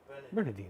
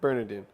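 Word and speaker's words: Burnadine: How do you spell it? B-U-R-N-A-D-I-N. B-U-R-N. A-D-I-N-E. Yeah, Bernardine. Bernardine. Yeah. Yeah. Bernardine.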